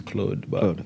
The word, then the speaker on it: Claude: have special guests today Claude correct yep correct pronouncing the real pronounce well the real French pronunciation is Claude okay it's all right